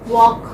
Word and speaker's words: walk: Walk. Walk, okay, walk. What is silent here? L is silent.